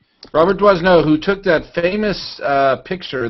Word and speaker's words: Doisneau: Robert Doisneau. Is that how you pronounce that, Lotus? Yeah. Doisneau?